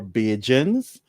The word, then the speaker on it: Bajan: Barbadians or Bajans, and we are called Bajans, Bajan, because of how the English pronounce the word Barbadians. So the English accent, they would say Barbadian. You old Barbadians where you live. So that di, when an English person pronounce Dian, Barbadian, they would say it would sound like a J, Barbadian. So we just say Bajan.